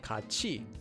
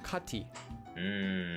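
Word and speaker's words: 같이: First, whenever you have a tiat before the sound e, that e sound becomes pronounced as chi instead of t. For example, this word would be pronounced as kachi and not kati.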